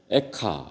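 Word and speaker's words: איכה: 애가라고 나오니까 슬픈 노래 애가인데, 근데 히브리 말로 또 애가가 마치 발음이 에카 이렇게 돼요. 에카.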